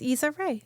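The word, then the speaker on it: Issa Rae: her name Isa Ray from the yes Isa Ray yeah y yeah yeah yeah yeah I haven't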